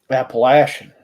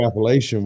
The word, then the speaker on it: Appalachian: Appalachian. Yeah. Don't get it side-goggled. Say Appalachian, we'll throw an Appalachia. That's how you know how to say it right.